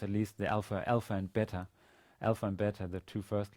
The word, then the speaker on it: Bet: The next consonant of the alphabet is Bet, which is a regular B, and without a dot, this letter is actually pronounced as a V, as a regular V sound.